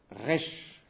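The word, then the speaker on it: ריש: m'arrête là j'ai fini cette lettre s'appelle rche r ça correspond à la lettre R dans l'alphabet latin alors son j'ai mis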